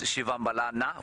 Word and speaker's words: Shivambalana: Shivambalana, the correct pronunciation is Shivambalana with the A on the end of it. But if you hear a Shangaan person saying it, to the untrained ear, it might sound like Shivambalan.